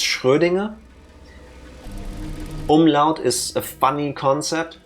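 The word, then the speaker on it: Schrödinger: I would also accept it's not sh Dinger I'll take it but I all know what she say I understand the problem of having to pronounce a word you probably never heard pronounced before and you only know it from reading and it's a different language and that so it's fair I'm just telling you it's shinger or shinger if you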